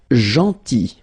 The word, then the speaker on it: gentil: Then gentil. So remember this final L is not pronounced. Gentil, gentil, and it's nice or kind.